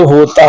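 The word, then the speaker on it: who: एच से पहले आने वाला डब्ल्यू साइलेंट होता है, जैसे हु, हुम, हुज।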